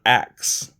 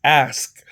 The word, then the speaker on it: ask: It's not acts. It's ask. As a politician, you can at the very least, be one of the ones that say it correctly. Ask. Not acts.